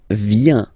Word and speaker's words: viens: So, the first form is je viens. Je viens, okay? Remember this I, viens, viens, and then this nasal, final S not pronounced.